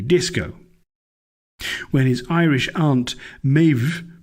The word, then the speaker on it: Maeve: When his Irish aunt Maeve, pronounced Hilda, actually it's Maeve, pronounced